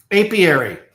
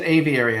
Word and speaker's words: apiary: Apiary. Yes. Thank you, Andy. There we go. I said aviary. I think that's a I think that's a bird thing.